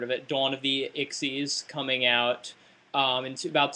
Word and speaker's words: Xyz: to be ixes monsters it's spelled XYZ and you don't say it's not an XYZ monster it's an ixes monster I know they were